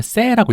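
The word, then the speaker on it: Say: 바티스트 세이라는 분이에요음 세이네 이게 프랑스 분이라서 어 원래는 세라고 읽어 된데요 네세서 세 세 년인데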